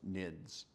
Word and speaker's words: NIDS: The term network intrusion detection system is often abbreviated as the acronym NIDS and pronounced NIDS. Generally, NIDS rules consist of three components: an action, a header, and rule options.